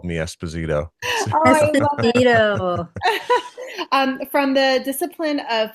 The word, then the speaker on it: Esposito: How do you say your last name? Esposito. Esposito. Yeah. Espinosa. So it's funny. Like, Espinosa is what my coach would call me in college as a joke, like all the time.